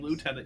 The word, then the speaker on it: lieutenant: But yeah, if you're British, you hate the French so much that instead of saying lieutenant, you say lieutenant.